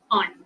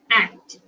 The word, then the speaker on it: aunt: That is the American sorry British pronunciation aunt. And in American English they pronounce it as ant like the mainly because again the accent is different over there.